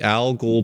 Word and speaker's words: al Ghul: It's called the Algol Performance. Here, I'll type it in the chat. Hey, tell me how to spell it, Alex, because I always mess it up. AL space GHUL, like Ra's al Ghul Performance.